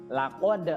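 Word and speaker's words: لقد: Nah, di ayat yang keempat, laqad khalaqnal insana fi ahsani taqwim. Di situ ada laqad, huruf qaf, ya dibacanya harus terasa di sini, ya. Laqad, ya bukan kaf tapi po, ya tidak keluar udara.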